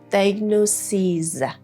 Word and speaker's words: diagnoses: When you want to use the plural version of diagnosis, you have to delete the is and then put es, and the pronunciation would be diagnoses.